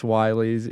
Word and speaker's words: WY: No, it's not Willys. It is pronounced Wighs if you had any question.